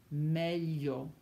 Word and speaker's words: meglio: When you see GLI, you do not pronounce the G. It sounds like li, li, as in million, voglio, degli, migliore, meglio, gli.